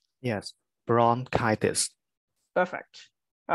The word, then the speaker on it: bronchitis: So bronchitis. So one of the suffix inflammations is on itis, right? So the E letter in English pronounces I. So bronchitis. Yes, bronchitis.